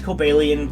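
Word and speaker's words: Cobalion: Togekiss and mawa my favorite fighting type is kalian and I know it's technically pronounced calian but I don't like that pronunciation but still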